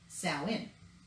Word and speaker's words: Samhain: Samhain, but it's pronounced Samhain because it's Irish.